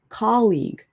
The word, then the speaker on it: colleague: Similar to colleague, actually. You say the word colleague with an uh as well, instead of a o.